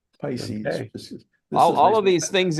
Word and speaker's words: Pisces: the constellation here, but they pronounced it piscus. Oh, no kidding. Which I've never used. I use Pisces.